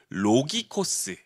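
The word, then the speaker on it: λογικός: 특별히 여기서 신령한이라는 헬라어 단어는 로기코스, 이 단어 어떤 단어랑 비슷한데요? 말씀, 로고스, 로고스 단어가 비슷하죠, 발음이.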